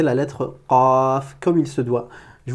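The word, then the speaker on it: قاف: Donc voilà, je vous dis bon courage et exercez-vous à prononcer la lettre Qaf comme il se doit.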